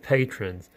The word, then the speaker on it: patron: to the growth of patrons. Now, you might think of the Spanish word patrón, which means boss, or someone who's in charge. Well, the English pronunciation is patron, and a patron is someone that gives money to support something.